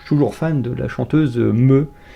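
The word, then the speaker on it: Mø: Puis j'étais toujours fan de la chanteuse Me, qui s'écrit M-O avec un O barré, et le O barré c'est un E.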